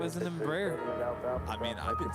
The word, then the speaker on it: Embraer: our next musical selections i don't think it's pronounced embryo though good my last memory of flying as a passenger on an embraer was flying from seattle